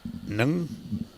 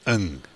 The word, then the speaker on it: Ng: South Africa and Johnny Nung is, it's not Nung, it's Ng. Sorry, I beg your pardon. Yep. NG pronounced Ng, because I wanted to make sure we got that right.